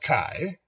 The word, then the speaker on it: chi: is the Greek letter Kai I'm spelled Chi but it is pronounced Kai and of course the